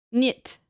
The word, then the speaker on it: niet: Niet.